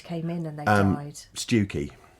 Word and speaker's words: Stiffkey: Stewkey. That's sad as well. Stiffkey, as it's spelled.